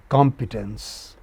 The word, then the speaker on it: competence: The other is stressed on the initial syllable from the left and is spoken as competence.